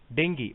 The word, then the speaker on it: dengue: Dengue, pronounced dengue, dengue fever, is a painful mosquito-borne disease caused by any one of 4 closely related dengue virus.